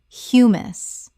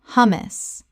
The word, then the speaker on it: hummus: Common mispronunciation, hummus or humus. Correct pronunciation, hummus. The H is pronounced and the first syllable is short like the word hum. Example, she makes her own